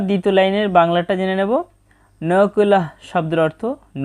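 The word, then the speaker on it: নকুলঃ: প্রথমে দেখতে দেখতে পাচ্ছি নকুলাহ বাংলা উচ্চারণের মতোই তবে শব্দের শেষে বিসর্গ থাকলে অর্ধেক হ এর মত উচ্চারণ হয় নকুলাহ এরপর আছে সহ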